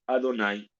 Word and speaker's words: Adonai: No lo leemos tal y como está escrito. Y nosotros lo leemos, lo pronunciamos Adonai.